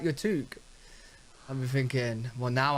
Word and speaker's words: toque: Sometimes, what Canadians call it a toque. That's not how you say it. It's pronounced toque.